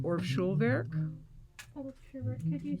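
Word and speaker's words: Schulwerk: time and one of them was called or schulberg could you spell that for me and then hyphen schwerk it's german for school work it's s-c-h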